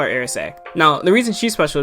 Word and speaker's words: Erice: where our main character, now it's pronounced in Japanese, Erice, like spelled out E-R-I-S-E. So I'm going to call her Erice. I like Erice more.